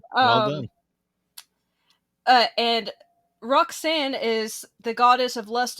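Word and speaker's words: Rhok'zan: And when she goes to her bedroom, she accidentally summons an eldritch goddess named Roxanne. It's spelled RHOK''ZAN.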